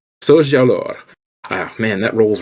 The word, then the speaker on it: Soljur: be playing Kareku, and it's Soljur, right? Yes. Okay, Soljur. Okay, I'm gonna make sure I say it right. Soljur.